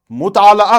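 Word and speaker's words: مطالعہ: इनका मुताला करते हुए, लफ्ज़ है मुताला, अक्सर लोग इसे मुतालिया पढ़ते हैं, लेकिन जब हम लुगात पढ़ते हैं तो हमें पता चलता है कि इसका जो तलफ्स है, प्रोनाउंसिएशन है, वो है मुताला। लाम के ऊपर जबर है, मुताला हो गया पढ़ना।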